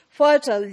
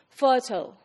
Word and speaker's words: fertile: of fur tile fertile fertile would be fur tall would be pronounced in American English fertile like we pronounce turtle so pronunciation would rhyme with turtle whereas when it comes